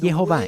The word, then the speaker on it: Jehová: Nosotros no sabemos quién es este hombre, pero él recibió esto como una tradición de que la pronunciación verdadera del nombre es Jehová, y la forma en